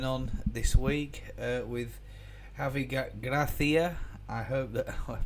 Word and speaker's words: Gracia: pronouncing his name right A lot of people are not even spelling it right let alone pronouncing it right I I will be the first to admit that I butchered his name I thought it was Garcia and I didn't really spot